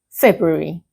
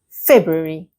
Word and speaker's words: February: A lot of learners try to pronounce every letter they say February. No. The real pronunciation of this word is February. Okay? February. Basically, you do not pronounce the R after the B.